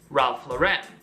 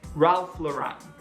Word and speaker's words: Ralph Lauren: a fashion house and she pronounced it with the syllable e on the end Ralph Lauren Lauren don't be like Rachel say Ralph Lauren number five ek are